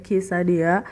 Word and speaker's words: quesadilla: Nama makanannya adalah quesadilla, tetapi pengucapannya adalah kee-sa-dee-yah.